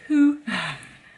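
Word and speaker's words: Hoo: farm that's in a place called Who. You have to say it like that, H-O-O.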